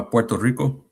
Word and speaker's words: Puerto Rico: Uh Puerto Rico, right?